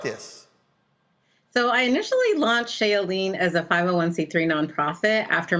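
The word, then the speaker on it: Shea Yeleen: us from washington d.c raham i'm not pronouncing that right uh shea of shea elaine hi hi roland thank you for having me yes it's shayleen you're probably okay all right then and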